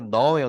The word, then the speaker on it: gnaw: 영어에 이거 발음은 G는 무음이가 gnaw예요, gnawing.